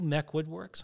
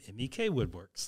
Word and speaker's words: MEK Woodworks: right and that is actually how it is pronounced not MEC lots of people say are you Mech Woodworks and I say no I'm not I'm MEK Woodworks those are my initials there you go yeah